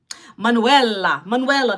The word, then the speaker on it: Manuela: My name is Manuela. It's the female version of Manuel. Manuela, that's how you say my name, okay?